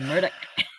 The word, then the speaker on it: Murdaugh: or like you take Murdaugh and I take Murdoch. I'm sticking to Alec. Alec is my But it's and I spelled like Alex.